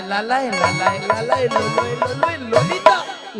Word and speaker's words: ললিতা: হবে জানো হ্যাঁ আর তুমি ঠিকঠাক উচ্চারণ করো একদম বলো ললিতা ললিতা ললিতা বাহি